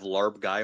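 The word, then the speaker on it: larb gai: a Thai restaurant and they have uh have larb guy on the menu get it it's fantastic lar guy okay it's spelled uh l a r b the time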